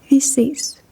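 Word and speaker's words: vi ses: And when saying goodbye to someone, you can say fav, you can also say vis.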